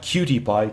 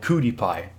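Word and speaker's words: Kootie Pie: All I know is I watched the DVD, the cartoon, her name was Cootie Pie. Not Cutie Pie, Cootie Pie. Like, she's got cooties, but it's spelled with a K because Koopa.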